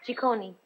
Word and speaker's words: Ciccone: And the name is pronounced? Ciccone.